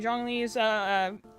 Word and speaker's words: Zhongli: You know how I figured out the Zhongli's pronounced that way is because someone corrected me, because I'm like, oh, you don't say the Z.